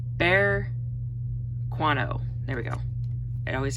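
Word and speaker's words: Berkano: I'm going to see if, okay, hold on, pronounce this right. Bear Quano. There we go. It always takes me a minute. I have to break it down on the word itself. So Bear Quano.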